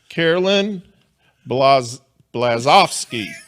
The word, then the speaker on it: Caroline Blazovsky: Let's welcome to the show, Carolyn Blazovsky. I said it. Did I say it right? You did fantastic.